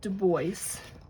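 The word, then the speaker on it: Driggs: exit to Deo it it's spelled deis if you're French you know but they spell they pronounce it Deo and there's a lot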